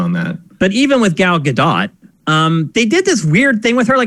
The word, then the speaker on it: Gal Gadot: so many different ways i've heard her pronounce her name it's gal gadot gadot is that how